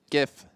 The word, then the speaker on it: GIF: does it mean it's GIF okay well in chat guys just let Jason know that it's wrong and that J GIF is the correct way to say it and then he said